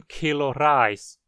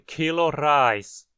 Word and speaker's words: Kilo Reis: 1 quilo de arroz é 1 Kilo Reis. E uma garrafa de água é 1 Flasch Wasser. Perceba que pronunciamos as duas palavras acentuadas. 1 Kilo Reis. 1 Flasch Wasser.